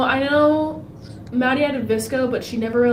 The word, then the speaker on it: VSCO: No, I know Maddie had a Visco, but she never like used it.